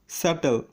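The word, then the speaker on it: subtle: যেমন date, doubt, স্যাটেল, এখানে বিটি পাশাপাশি আছে তাই বি এর উচ্চারণ হয়নি।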